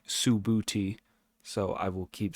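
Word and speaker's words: Subhuti: trying to recall uh I looked up sabuti um Su BH UTI and it's literally subti so I will keep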